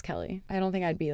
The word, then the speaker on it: Kelee: get through her head that it's Kelly and it's not Keely yeah she's always like